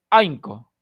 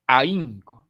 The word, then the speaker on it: ahínco: feo aquí por ejemplo si no tildó en y esto sería ainco y la palabra no es ainco es ahínco necesito tildar a pesar de que la regla me dice Esta es una palabra grave terminada en vocal O sea no tiene coda final la regla me dice no debes de tildarla pero si no la tildo sonará de una manera inadecuada así que a pesar